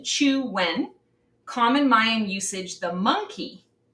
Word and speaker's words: Chuen: Pronunciation, Chuen.